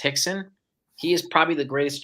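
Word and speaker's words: Rickson: Gracie his name is spelled rickon but it's pronounced Hixon he is probably the greatest Jiu-Jitsu practitioner in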